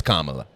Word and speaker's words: Kamala: pronunciation of the name what is the correct pronunciation you know it's Kamala you know it's you